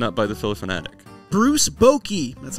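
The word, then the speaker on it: Bochy: forever got beaten up by the siliconatic Bruce Bokey that's how you say it has 43 crew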